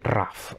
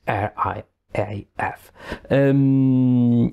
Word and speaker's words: RAF: In my Italian accent, I tend to say it RAF, which is not totally not the right way to pronounce it. It is RIAF.